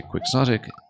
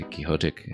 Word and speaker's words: quixotic: A lot of people say quicksotic in English. A lot of people equally say kiote, hence how it follows from dunote lancha. You hear both commonly enough in English.